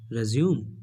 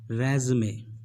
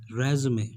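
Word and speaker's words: résumé: रेज्यूम? नो, it's wrong. आपको बोलना है रेज़मे, रेज़मे।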